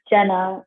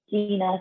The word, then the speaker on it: Gina: people always say my name is Jenna, and I'm always like, it's Gina, because it's definitely like really There's two spelled.